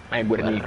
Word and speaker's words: Guernica: Ghe, perché gue è ghe.